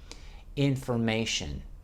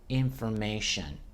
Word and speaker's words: information: from the French language information information there the T is pronounced as the SH so the T can be pronounced many different ways information just the F in formation okay information good okay